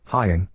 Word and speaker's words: Haiying: Yesterday after school, Haiying, pronounced Haiying, came up to me and my wife and showed me her school pictures, both her individual photo and her group/grade photo.